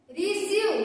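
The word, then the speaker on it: receive: यानी कि यहाँ पे देखिए क्या लिखा, ई आई एक साथ आ जाए, ई और आई एक साथ आ जाए तो इसका उच्चारण हम लोग ई पढ़ेंगे। यानी कि इसको बोलेंगे रिवीजिंग, रिसीव। क्या बोलेंगे इसको, रिसीव।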